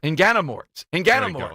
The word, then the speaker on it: Inganamort: It's got a handle on, I'm working on the pronunciation here. Inganamort. Inganamort. Mort. Inganamort.